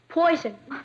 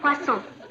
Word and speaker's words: poisson: Poison. That's pronounced poisson.